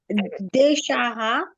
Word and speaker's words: देशः: मार्ग आपण मंडपः हा देशाहा देशः देशाहा देशः देशाहा मार्ग मार्गा आपणाहा नाही तिकडे बघा लक्ष द्या देशः देशाहा मार्ग अ मार्गा आपणाहा मंडपः इथे प्रत्येकाला आपण विसर्गाचं उच्चारण ह करतोय हं हा पुन्हा वाच देश